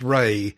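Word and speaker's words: Rhea: And um the reason I highlighted Rey is because I didn't know this up till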